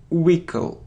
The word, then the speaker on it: vehicle: vehicle no it's Wile wle so we don't pronounce h wickle wickle wickle wickle look it isn't Museum no